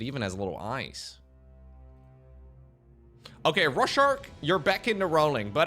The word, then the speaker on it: Rorschach: Anyways, Rorschach. Am I pronouncing it correctly now? Rorschach. Bro, Google says Rorschach.